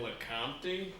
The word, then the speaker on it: Lecomte: French long-distance swimmer Ben Lecomte. That's pronounced so correctly, it's not even funny.